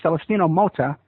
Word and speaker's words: Celestino Mota: And he's from Mexico, and his name is Celestino-Mota. Am I pronouncing that right? Yeah, that's very good, Ed.